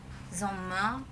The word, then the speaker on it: Sommer: Ini Sommer sama aja. Sommer, R-nya tuh kayak nggak dibaca gitu.